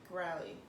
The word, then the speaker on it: Crowley: you to this area i knew nothing about crowley okay that's how you say it because they